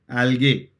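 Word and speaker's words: algae: है अंदर आई एम एल्गे एल्गे कि अलगी अलगी बोलते हैं लेकिन स्पेलिंग याद रखना ए एल जी ई ई नहीं है बोलते हैं ऐसे एलगी लेकिन है एल्गे स्पेलिंग का ठीक है इसके बाद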